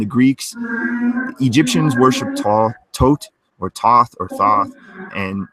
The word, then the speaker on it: Thoth: book of to or tote or th tote is supposedly the correct way you pronounce the th is as hard te so it's like tote essentially that's I guess the